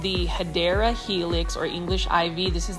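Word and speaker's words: Hedera helix: for my new viewers I um mispronounce hadera Helix as hedra Helix just because for the longest time I was mispronouncing it as hedra Helix when I first did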